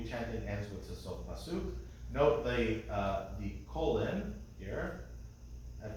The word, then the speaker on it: pasuk: So in the word pasuk, suk is accented, so they put this little symbol here, on the accented symbol.